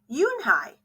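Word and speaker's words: Unhei: up her face some kids chanted no no Yoon Hai corrected it's spelled u n h e i it's pronounced Yoon Hai oh it's you hey the boy said like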